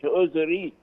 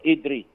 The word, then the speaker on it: إدريس: إدريس هو يا جماعة أدريس، ما تقولش أدريس، النطق السليم لأدريس هو أدريس اللي هو إدريس اللي هو يعني جاء